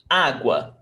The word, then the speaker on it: água: Which one is stronger, U or A? A. We don't say agua, agua. We don't pronounce like that. We pronounce água.